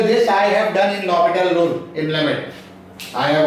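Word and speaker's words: L'Hôpital: Don't pronounce the L'Hopital.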